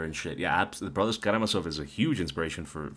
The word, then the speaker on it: Karamazov: How the fuck do you pronounce that? Karamazov, the brothers Karamazov.